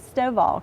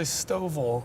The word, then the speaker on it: Stovall: So next we have Dave Stovall, correct? Yeah, you said it right. A lot of people say Stovall.